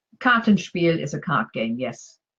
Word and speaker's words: Kartenspiel: And phrase 15 is Kartenspiel. And Karten is cards, Spiel is game. So I'm going to go with card game. But is my pronunciation correct? Kartenspiel is a card game, yes.